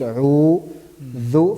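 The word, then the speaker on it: أعوذ: A'u, dhu from the tongue, and the tongue has to be a little outside. A'udhu.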